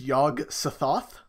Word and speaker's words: Yog-Sothoth: I will say, the name is Yog-Sothoth. Yog-Sothoth? Yeah, think the Egyptian god Thoth.